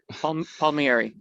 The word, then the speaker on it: Palmieri: I've got Palmieri. How do you pronounce it? Palmieri.